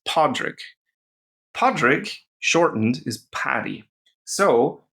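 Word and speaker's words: Pádraig: So this word with 2 Ds, paddy, is the short form of the word Patrick, which in Irish is Podrick.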